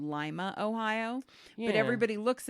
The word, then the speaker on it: Lima: The people in Ohio know it's not Lima, Ohio. It's Lima. That's how they pronounce it. That's a regional thing.